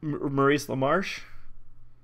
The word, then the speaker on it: Maurice LaMarche: Maurice LaMarche?